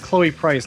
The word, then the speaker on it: Chloe Price: in her story oh it's Chloe price not Prince but you know probably yeah I just mispronounced that sorry Little Red Corvette